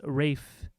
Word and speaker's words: Ralph: I always thought his name was pronounced Rafe Fiennes.